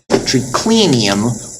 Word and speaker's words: triclinium: And the third to last was clinium. Triclinium. Why? Because the n was short.